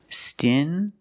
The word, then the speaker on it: stingy: These two words have the regular n sound, n, plus the j, like juice. Together, stingy.